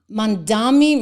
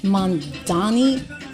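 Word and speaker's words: Mamdani: Mandami, maybe I spelled his name. Did I spell his name wrong? It's Mandani.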